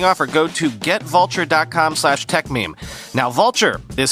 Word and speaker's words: Vultr: Vultr is the infrastructure cloud.